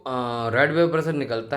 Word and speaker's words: Reid: True vapour pressure थोड़ा सा ज़्यादा होता है इस रेड वेपर प्रेशर से, 5 to 9% higher than रेड vapour pressure. रेड की स्पेलिंग क्या है? REID, रेड vapour pressure, right.